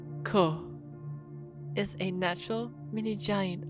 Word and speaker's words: Ko: creation of the universe echo pronounced as ko is a natural mini